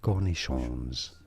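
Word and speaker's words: cornichons: The s is silent in French but not in English. Cornish cornishons from French.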